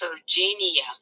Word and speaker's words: Turgenia: She was on live and Robbie, it's pronounced Turgenia. oh, Turgenia. we Turgenia. was both wrong.